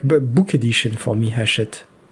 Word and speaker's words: Hachette: Is it Hatchet Games? Hatchet Board Games. Am I pronouncing that I right? don't It's HACHETTE. That looks French.